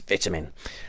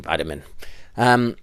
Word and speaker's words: vitamin: ours and say yes the pronunciation is vitamin um but feel free to continue using vitamin okay but we need